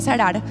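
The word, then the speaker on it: צרר: Es del verbo hebreo zarar. Se pronuncia sarar.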